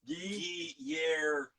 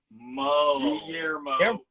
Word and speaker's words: Guillermo: It's Guillermo. Guillermo. No L sound. See, I thought it was like gyro, gyro.